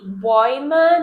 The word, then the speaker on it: Bäume: So when it is only AU, we say au. But when we have an A umlaut by A, now we say oi, oi.